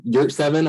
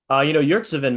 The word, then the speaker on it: Yurtseven: Omer Yurtseven, I think is how you say his last name.